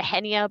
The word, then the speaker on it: Nhenia: You can find me in game on Nenia. That's NHENIA. The H is silent. You can also say the Henia, but it bothers me.